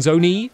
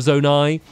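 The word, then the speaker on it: Zonai: And there's also loads of people that keep commenting saying that I keep saying Zone E instead of Zone I.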